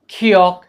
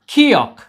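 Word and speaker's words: 기역: इन व्यंजनों के नाम भी है, जैसे हमारे व्यंजनों के नाम है क ख ग घ, वैसे इनके व्यंजनों के नाम है खियोक, थियोत, फियोक, नियोन, मियम, इस प्रकार के हैं।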